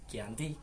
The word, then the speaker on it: Giyanti: yaitu di desa Janti dalam pelafalan Belanda disebut Yanti tetapi dalam penulisan ditulis dengan tulisan Giyanti tempat tersebut berada di